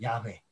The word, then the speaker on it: 야훼: 그러면서 여호와 발음으로는 야훼입니다. 야훼. 예. 야훼라는 발음인데 구약 성경에 야훼라는 이름이 여기 처음 나와요.